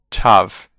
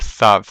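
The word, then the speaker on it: תו: And tav, by the way, has a hard and a soft sound, but in modern Hebrew it's just called tav. It's not called thav.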